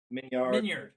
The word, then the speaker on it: Minyard: Anytime I'm telling people how to pronounce it, I always hang on the yard to really let them know how it's spelled. But it's Minyard. Any of it works.